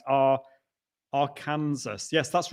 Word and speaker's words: Arkansas: west arkansas um saying hello from am i pronouncing that am i saying that right our arkansas yes that's right watching on a macbook pro